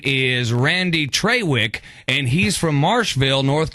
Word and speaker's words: Traywick: No, it is Trawick. You're right, and that is spelled Traywick.